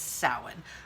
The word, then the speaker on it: Samhain: is pronounced different ways the standard Irish is salan that's how I'm trying to train my brain on how to say it now it is soin the there's other guy lick dialects as well